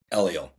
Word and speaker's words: Eliel: And once again, how do you pronounce, is it Eliel? Eliel.